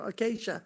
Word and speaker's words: Acacia: Acacia. Is that how you say it? There you go. Acacia.